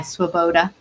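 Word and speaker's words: Swoboda: book that we recommend called subversive sabbath by swaboda that's how you pronounce his last name and um it was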